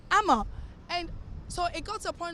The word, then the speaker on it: Ama: So I used to be like, my name is Amma, A-M-A. She'll be like, Emma. I'm like, no, Amma.